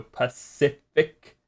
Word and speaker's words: Pacific: Pac like the first C is like the S sounding one. Pific. And then the second C is the K sounding one. So Pacific.